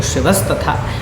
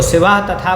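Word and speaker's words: शिवस्तथा: तो शिवस तथा, इसको शिवा तथा बोल दियो, या लेकिन शिवस तथा बोलोगे तो ये ज़्यादा सही है।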